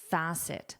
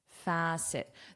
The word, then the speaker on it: facet: Close your eyes. Facet. Facet. Facet. The pronunciation and the spelling don't necessarily look alike. So just link that sound. Connect that sound.